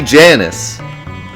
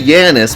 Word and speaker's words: Janus: I mean, I can say Yanis, but I'm just saying, like, how do we know it's Yanis? Because the way to pronounce that particular J is with a Y? In what language?